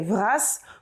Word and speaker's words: vras: Si on veut dire merci beaucoup à plusieurs endroits, on pourra l'accompagner de brasse, mais attention, celui-ci mute. On dira donc trugaré vras pour dire merci beaucoup.